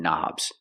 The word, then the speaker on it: knob: We see the word knob has a K, and the K is silent. Don't pronounce the K. Start with the N sound.